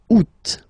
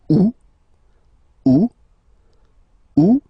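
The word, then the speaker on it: août: And then here two options because uh well two options are acceptable in French. The first one you don't pronounce the final T the U. Second one you pronounce it oot.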